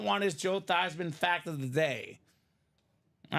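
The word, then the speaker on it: Theismann: name Joe theeman uh when he was at Notre Dame uh the Notre Dame PR staff wanted him to be the Heisman so they said let's change your last name pronunciation to be thyman so it can be thyman for the Heisman so his parents their last name is not Theisman it's thesman thean but his last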